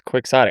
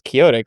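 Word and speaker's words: quixotic: It's quicksotic. I thought it was Kyotic like Donote but Wow.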